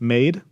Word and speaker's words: MAD3: And I pronounce this MADE.